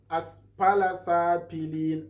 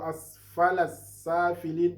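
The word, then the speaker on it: أَسْفَلَ سَافِلِينَ: Don't say aspala sapilin. Aspala sapilin is totally a mistake. While if you recite it like this, asfala safilin, that one is a very good one.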